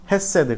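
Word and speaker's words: חסד: 헤세드. 그런데 원래 발음은 헤세드입니다.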